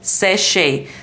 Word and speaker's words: Seche: It says the company is called Sesh, and we do not use an accent over the last E, but we still say Seche.